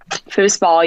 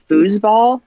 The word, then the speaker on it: foosball: think foosball right Kelsey foosball yeah I people hear me say it with that s sound and people think that they're mispronouncing it if they say foosball more with a z